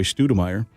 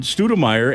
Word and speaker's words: Stoudemire: 4 years it's been Troy Stoudemire, and that's how it's spelled. And we listened to the voicemail. Hello, you've reached a voicemail of Troy Stoudemire.